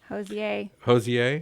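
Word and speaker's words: Hozier: May 2nd, Hoosier. Hosier. Is that? Yes. That's not how it's said, is it? Yes, it is. Is it really?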